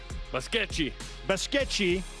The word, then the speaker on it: Basquete: Q-U-E-T is pronounced chi? Yeah. Basquete? Yeah. T-E is chi. Yeah. Yeah, I need some Portuguese lessons. Q-U-E is, K. Basquete. Congratulations to Maria going back home. Basquete is like basket.